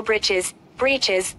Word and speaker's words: breeches: Breeches, or short trousers. The writer here spells it, for fun, to rhyme with the word, witches.